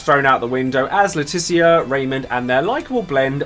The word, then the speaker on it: Laetitia: planet where he finds Laetitia, very clearly pronounced that, not Letitia, it's Laetitia, the princess of the planet's major kingdom.